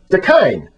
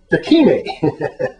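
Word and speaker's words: da kine: time to time, but Mr. McKeever repeatedly and consistently mispronounced the pidgin term dakine, saying instead dakine.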